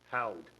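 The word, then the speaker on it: Houde: mr donafio all in favor retirements i'm gonna mispronounce the last name unless don helps me out dave h-o-u-d-e howd thank you david howard bus driver 20 years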